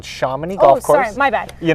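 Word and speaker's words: Chomonix: well yep and you know it's actually called shamany golf course my bad you know and that's one of the biggest things shamany yep and one of the biggest things we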